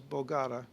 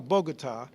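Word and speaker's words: Bogotá: that I would say the capital of Columbia I know is Bogata know Bogota and how do you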